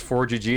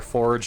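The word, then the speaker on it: ForGG: case you are wondering how to say it it is 4gg it's not four or Forge or uh frog actually I used to have a manager I thought his name was frog with two G's which is probably the worst pronunciation of his name he's ever heard and he would say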